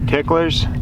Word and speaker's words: TicklerZ: I'll be honest, I always called it, I said the Z at the end, like just pronounced it as a Z, and I got reprimanded. You're supposed to pronounce the Z as an S.